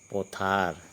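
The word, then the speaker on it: পথাৰ: पोथर क्या कहेंगे पोथर इसका उच्चारण पोथर लिखा है झील झील झील को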